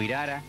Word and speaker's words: irará: El irará o irara, como lo pronuncian muchos montaraces, es un carnicero, un